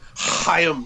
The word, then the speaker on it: Haim: toys that made us he goes it's pronounced hayam saban he's more ridiculous that's